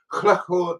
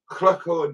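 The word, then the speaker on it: Llwchwr: but it is also the first element of Chlachor News, where I bring you news from Chlachor, which is spelled L-L-W-C-H-W-R.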